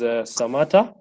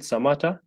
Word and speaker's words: Samata: My name is Samata. Pronounced the same way I'm saying it, Samata.